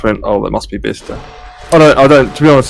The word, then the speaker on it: Bicester: Yeah, Bista. Yeah, and you didn't pronounce it Bicester like everybody else. Well, no, because that's like saying Leicester.